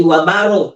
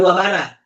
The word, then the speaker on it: wabarakatuh: Jadi wabaro bukan wabarah. Ingat itu ya.